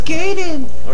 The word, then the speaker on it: Gaiden: It's Gaiden. Get it right. Get it right, moron.